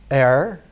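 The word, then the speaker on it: Aïr: African Sufi communities, and they call that area Air, like A-I-R, but pronounced in kind of a French tone.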